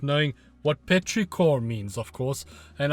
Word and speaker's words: petrichor: means, of course, and I'm hoping I'm saying it correct. Petrichor, petrichor, you know, the second last song on the album. So Robyn, what was all that about? So petrichor, you are pronouncing it right.